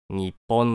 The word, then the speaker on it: 日本: 日本の読み方日本は日本と日本二通りに読めるが本来正しいとされているのは日本の方で国際機関などに